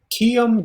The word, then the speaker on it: kiom: Now, is it kion with an N or kiom with an M? Kiom da telefonoj estas en via oficejo? An M.